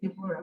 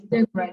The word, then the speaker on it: Deborah: I don't know if people say Deborah, but the right pronunciation of my name is Deborah. The O is silent.